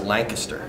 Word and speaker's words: Lancaster: refresher course last night for western Pennsylvania craft la ng ki SS ter lies the kiss turf you say real fast like sweet connects to the correct pronunciation or even beautiful feminine I don't get